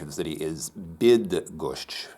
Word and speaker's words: Bydgoszcz: of the city is bid that gosh it's it's actually like the English word bid so please enjoy a video about bid gosh you so much welcome